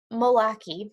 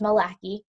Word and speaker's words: McCauley: the pictures so William Milwaukee sorry I pronounce his name wrong earlier it's Malak II he wrote the story